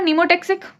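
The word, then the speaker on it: pneumotaxic: है रेगुलेट करता है पी फॉर नीमोटैक्सिक P silent है ठीक है पी फॉर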